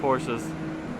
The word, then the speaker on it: Porsche: You guys let me know what you think about Porsches.